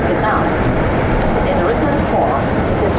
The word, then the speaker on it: Gdańsk: We, Slavic people, always say Gdańsk. German who ruled here in 19th century, they couldn't pronounce it, they use name Danzig.